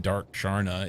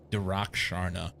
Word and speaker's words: Darak Sharna: I said Dark Sharna. It's Darak Sharna. It's probably still mispronounced, but that's closer anyway. It's not dark.